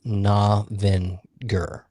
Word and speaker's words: Novinger: Our town in Missouri, it's Navinger. It's a hard G. Gur. Navinger.